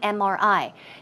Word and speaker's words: MRI: take an MRI now also notice MRI it starts with a consonant right but the M when you pronounce the M you pronounce it as m m it starts with a vowel sound e and that's why it should be on MRI not a MRI okay keep that in